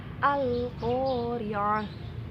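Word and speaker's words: القارعة: Contoh Al-Qari'ah, alnya dibaca jelas, Al-Qari'ah, wal 'ashr, wal fajr.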